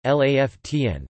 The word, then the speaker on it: La Fontaine: Henri La Fontaine, French pronunciation LAFTN, the 22nd of April 1854 to the 14th